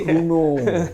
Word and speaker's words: Renault: Renault bacanya. Bacanya Renault tapi Runo.